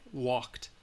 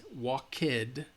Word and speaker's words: walked: it walked all right walked it's not walk kid no no no no no no no